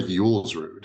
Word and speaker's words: Julsrud: Waldemar Julsrud.